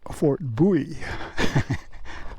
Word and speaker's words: Bowie: Actually, it's pronounced Fort Bowie.